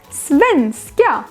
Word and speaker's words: svenska: For example, Swedish in Swedish is svenska, two stresses.